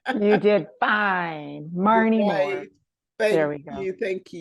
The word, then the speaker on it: Maryne Moore: Her name is Maryan Moore. I hope I pronounced your name. You did fine. Maryan Moore.